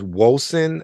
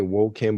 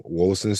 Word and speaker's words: Wolcen: Next one is Wolcen, I believe is how it's said. I want to say Woken, but it's a C and then that's there.